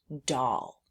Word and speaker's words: doll: This is the word doll. D O O spells doll.